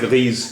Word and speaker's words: grise: واحد مذکر اور جمع مذکر دونوں کی اسپیلنگ ایک ہی ہوتی ہے, GRIS, گری, گری. اس کا گری کا مؤنث ہے گریز, GRISE, گریز.